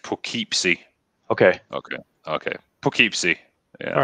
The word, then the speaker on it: Poughkeepsie: Plokeepsie. Okay, there we go. I don't know how to... People are saying it's pronounced Poughkeepsie.